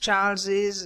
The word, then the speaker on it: Charles's: There it is pronounced Charles's and James's if you want. If not, it can be Charles and James, but you still are using the possessive case.